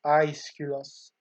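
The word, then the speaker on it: Aeschylus: written by at least presumably written by ischilus um or properly pronounced i skelos we see prometheus as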